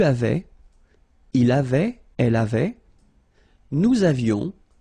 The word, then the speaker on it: avions: Il avait, final T not pronounced, elle avait, nous avions, little liaison, final S not pronounced, nous avions, vous aviez, same thing